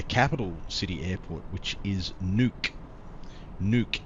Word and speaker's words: Nuuk: city airport, which is Nuuk. Nuuk, N-U-U-K. Now here in Australia, well, some of us would be inclined to pronounce that as Nuck, but it's not Nuck, it's Nuuk. Nuuk, not Nuck.